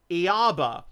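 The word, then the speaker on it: Ιαβε: the 4th century AD testifies that the Samaritans who shared the pentateuchal scripture with the Jews pronounce the name Yaba and that is the group those are the four Greek letters Yoda alpha beta and epsilon the equivalent of I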